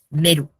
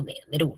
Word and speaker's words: Nehru: Esa es la importancia de Nehru, o Nehru, ¿no? Bueno, Nehru he escuchado ambas pronunciaciones.